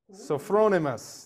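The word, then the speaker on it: sophronismos: s-o-p-h-r-o-n-i-s-m-o-s oh wow come on man say it so thronemus there we go here's what it means an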